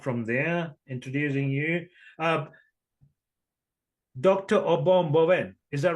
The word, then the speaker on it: Obom Bowen: Obom Bowen. Is that right? Did I Correct.